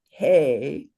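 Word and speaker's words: हे: A gona has is always two beats and this letter would be pronounced hey. I mean this word hey.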